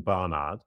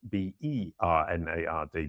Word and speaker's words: Barnard: My name, Barnard, J-A-S-O-N-B-A-R-N-A-R-D. Some people say it, it sounds like B-E-R-N-A-R-D, Bernard.